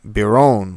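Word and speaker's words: Berowne: Navar spelled like Navar Brown is not supposed to be the French name Brown is supposed to be Bron like like the French version of Byron like Lord Byron um and so Wyatt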